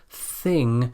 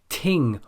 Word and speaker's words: thing: This is an unvoiced sound. The most common mispronunciation here is to pronounce this sound as a d or a t, like ting or ding for thing, bat or bad for bath, or dif or tif for thief.